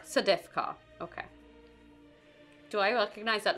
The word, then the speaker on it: Sedefkar: It is the Sedefkar simulacrum, Sedefkar. Sedefkar. Sedefkar. And how does that pronounced? Sedefkar. Sedefkar, okay.